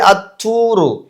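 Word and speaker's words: الطور: வைபின்னு சொல்லக்கூடாது அதே மாதிரி அத்தூரு அப்படித்தான் சொல்ல முடியுமே தவிர அல்தூருன்னு சொல்ல முடியாது அதே மாதிரி அல்வாரு அப்படின்னு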